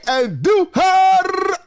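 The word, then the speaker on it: Andújar: Roll your R's when you say Andujar.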